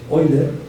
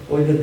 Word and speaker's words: Euler: Esta es la se llama la fórmula de Eer. Eer que se escribe Euler.